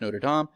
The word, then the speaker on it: Notre Dame: If you've ever seen The Hunchback of Notre Dame, correctly pronounced Notre Dame, then you have seen like they would have a thing where everything was reversed.